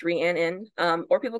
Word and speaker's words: Rhiannon: about me is my name is ranan pronounced ran in um or people call